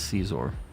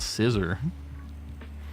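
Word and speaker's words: Scizor: Caesar like that it's it is caesor that's how you say it it's not scissor I know that that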